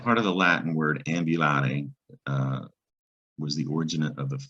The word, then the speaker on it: ambulare: There's the U that says you, ambulare, meaning to walk.